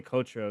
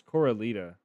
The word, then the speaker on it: Coralita: I'm saying this name wrong. Coralita. I say Cotra. It's Coralita.